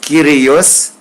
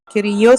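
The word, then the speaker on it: Κύριος: Donc, vous connaissez ios ou kyrios, kyrios, kyrios, kyrios.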